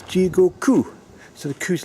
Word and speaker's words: Jigoku: And it's Jigoku, not Jigoku. Which of course I'm saying Jigoku because that's how one would say it if one was from the aristocracy. But it's Jigoku.